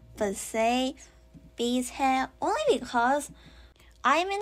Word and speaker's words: Bizet: And also it's kind of like in between the French pronunciation Bizet and the English pronunciation Bizet.